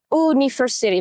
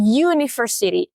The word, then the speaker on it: university: Cara baca ini kan bukan university, bukan, tapi university, u. Jadi kesannya kayak huruf y.